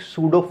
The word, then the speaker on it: pseudo: पड़ता है, उसमें एक सूडो फोर्स ऐड करनी पड़ती है। सूडो मतलब होता है झूठी, इमेजिनरी। तो ये सूडो का मतलब होता है एक इमेजिनरी फोर्स, पी साइलेंट है इसमें।